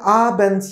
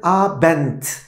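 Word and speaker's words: Abend: ve burada fark ettiyseniz d harfi konuluyor ancak telaffuzu ederken arkadaşlar Guten a Bent sanki orada t varmış gibi davranıyorum Halbuki nasıl yazılıyor D ile yazılmış oluyor fark ettiyseniz arkadaşlar Abin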